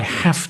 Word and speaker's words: have: Okay, not I've, because the stress is on the have. I'm afraid I have to disagree. So you need to change that. You can't contract it because it's stressed.